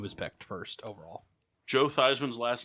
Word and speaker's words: Theismann: backed first overall joe theismann's last name is actually pronounced as thiessman but he changed it to theisman before his senior year at notre dame because it rhymed with heisman that's funny i never